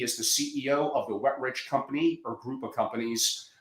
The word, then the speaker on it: Wetrich: asked, is it pronounced Wetrich? Wetrich, yeah, it's just two words put together, Angelo. It's the opposite of dry and poor. Wetrich.